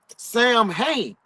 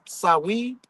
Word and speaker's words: Samhain: The ritual we embrace as Halloween was originally called the Feast of the Dead, Samhains, or pronounced Samhain, Samhain.